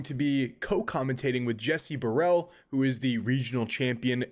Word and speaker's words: Borel: You said Borel? Is that how you say it? Borel, Jesse Borel. Borel, yes, sir.